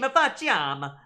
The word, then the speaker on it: faciam: Now, it should still be faciam. That's a k sound, not a ch in classical Latin.